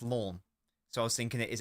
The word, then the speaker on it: Lens: Just cuz just cuz Lens is pronounced lawn.